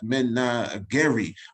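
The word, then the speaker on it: menagerie: descended from the private uh men uh this pronounced men gary of emperor highly selasik of ethiopia is genetically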